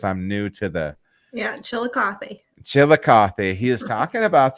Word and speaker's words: Chillicothe: was talking up this Brewer at is it pronounced Chillicothe because I'm new to the yeah Chillicothe Chillicothe he was talking about this Brewer that